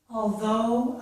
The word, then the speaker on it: although: that might help you remember that though, and in this case, although, has that same sound, okay? Please repeat this sentence. I'll go, although I broke my toe. I'll go, although I broke my toe. So that, again, I hope will help you remember that although has the O sound as in go.